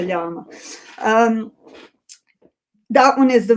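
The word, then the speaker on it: Llama: Apparently Robin said it's like the alpaka animal. So it is a ylama.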